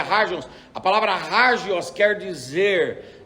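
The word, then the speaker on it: ἅγιος: é a palavra harges a palavra harges ou ágios com H que é pronuncia haja a palavra hargels quer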